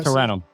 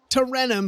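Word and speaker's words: Tarentum: Ter pronounce it for me. There we go. Terrenum. Terrenum.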